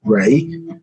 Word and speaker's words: Ra: We get Ray, it says Ra, and then say Ra, pronounced as Ray.